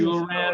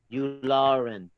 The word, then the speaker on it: Yularen: He is Unaran or something? Unaran or Unalan, or I can't pronounce that guy's name right now. Yularen.